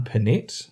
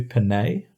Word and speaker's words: Pinette: stand-up comedy is John Pinette. I think that's how you pronounce it. I feel like it should be Pinette, but he pronounced it John Pinette.